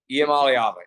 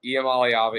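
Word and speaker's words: Iamaleava: lose if Nico um I want to say his name right so bad I alava I alava I alava that's how you say his last name niala I I looked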